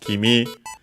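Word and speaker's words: 君: So, we have first and foremost Kimi.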